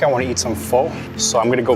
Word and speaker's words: pho: We use the short sound like cup and up, not the long o like no and go. It's not pho, it's pho. It looks like pho, but it's not. It's pronounced pho.